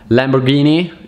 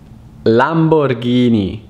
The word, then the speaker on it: Lamborghini: another famous italian car that i hear is mispronounced all the time is not lamborghini it's not lamborghini or lambo it's lamborghini lamborghini lamborghini o lambo lamborghini armani armani